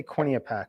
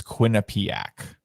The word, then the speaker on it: Quinnipiac: so uh next one how do you say quinny a pack is that how you say it i don't know how to pronounce it i believe it's quinnipiac quinnipiac all right yeah and